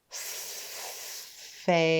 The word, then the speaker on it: phase: That means our E is silent. He doesn't make a sound of his own, but he helps A say his name.